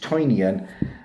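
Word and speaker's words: Tynion: of course everything james tinian or i think he is pronounced toinion uh brings out at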